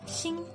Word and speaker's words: 星: Next, xi plus e plus ng makes 星, as in 星星, star.